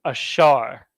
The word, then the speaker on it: Asher: Uruguay South America the tribe of Asher is pronounced ashar in the ancient Hebrew a sha and then ra with the Shah and the ra joined together to be pronounced ashar ashar means happy so